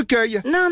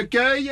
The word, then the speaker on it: Cueil: u e i l c'est marrant parce que ça s'écrit exactement comme l'accueil on accueille les gens finalement oui comme l'accueil c'est ce que je